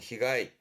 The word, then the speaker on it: 被害: 발음은 히가이, 히가이.